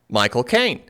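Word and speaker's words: Michael Caine: My cocaine. Huh? Michael Kaine. That's how you say his name with his cochney accent. My cocaine.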